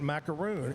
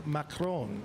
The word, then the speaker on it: macaron: It isn't macaroon. It's macaron.